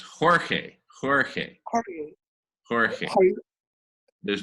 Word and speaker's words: Jorge: And Shankar, it's pronounced Jorge.